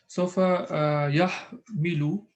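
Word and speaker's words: يَحْمِلُ: Sofa yahmilu. No, sorry, it's not yahmalu. Yahmilu.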